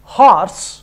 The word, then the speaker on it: horse: Whereas in horse, H is not silent. That's why we give or we say a horse.